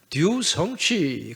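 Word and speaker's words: 独生子: 이 중국어로 독생자라는 말, 제가 우리 진욱성 집사님한테 물어보니까 듀성취 그렇게 발음을 하더라고요.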